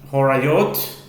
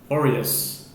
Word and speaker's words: Horayot: Daf Yomi, tractate Horayot, or Horayos. Different pronunciations depending on your orientation.